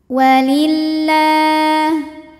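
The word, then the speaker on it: ولله: Walillah. Lam jalalah dibunyikan secara tarqiq sebab huruf sebelumnya berbaris kasroh. Maka dibacanya tipis la.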